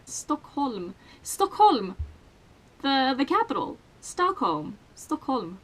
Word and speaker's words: Stockholm: Stockholm. That's how you pronounce it, not Stockholm. That sounds so fucking weird.